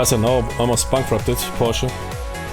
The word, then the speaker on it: Porsche: We will pronounce everything in the American way." Porsche. Borch. Russian. Russian. Borch. It's Porsche.